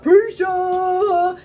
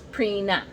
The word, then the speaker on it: Prina: one time and and the DJ didn't know how to pronounce Purina and she and he was like next up we've got preacher and so that's my name for her by Kid scholar pizza but her name is prina p-r-i-n-a yeah this is us